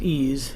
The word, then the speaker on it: EES: EES which is pronounced ease is an acronym for Engineering Equation Solver ease is an engineering tool and therefore the variables